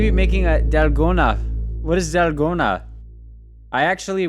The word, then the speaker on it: Dalgona: This is Targuna. Why does it Guna? This is G-U, but it's spelled G-O in English.